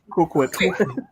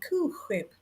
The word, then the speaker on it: Cool Whip: Cool Whip. You pronounce the H.